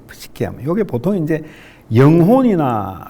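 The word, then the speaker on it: Psyche: 프시케 어 이게 이제 영어로 하면은 피가 묵음이 돼요. 사이로지 할 때에 그런 근데 독일르에서는 피가 이제 묵음이 안 되거든요. 푸시케 하면 요게 보통 이제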